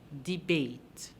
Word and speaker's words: debate: Now, let's look at the word debate. Debate. If you look carefully, you will see that the word debate ends with an E. But do you hear that sound at the end of the word?